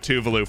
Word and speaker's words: Tuvalu: call it something else i used to call it tuvalu but now i call it tuvalu because that's apparently the right way to say it but i could not